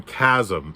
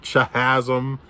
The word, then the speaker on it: Chasm: been pronouncing the name chasm it's chasm guys c-h-a-s-m do you really not know how to say that word chasm not chasm not chihasm i or chasm i i